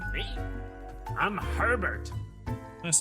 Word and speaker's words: Herbert: Not to be that kind of asshole, but technically his name should be pronounced Herbert, if that's the case, because, you know, the H is silent, and I'm just gonna be that kind of asshole.